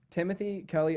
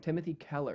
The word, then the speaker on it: Timothy Keller: just spasming it's weird timothy kelly also dude i've been saying it wrong this whole time timothy keller not the whole time